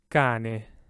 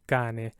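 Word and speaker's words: cane: i'm talking about this first word here kane because the c is in front of a so it has the hard ka sound right kane but the second word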